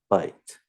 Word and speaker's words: byte: you guys though that this word is pronounced exactly the same as this word bite bite okay but know